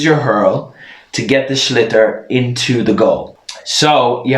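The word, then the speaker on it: sliotar: people pronounce it awfully it's spelled s-l-i-o-t-a-or people pronounce it slyater sleoter it's called a schlitter so it's a pretty irish word a schlitter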